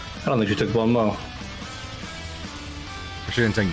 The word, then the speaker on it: bon mot: I don't think you took Bon Mo. She didn't take Bon Mont. Or whatever it is. Bon Mo. It's French. Yeah, whatever it is. Bon Mont, the English spelling of it. Or pronunciation of it.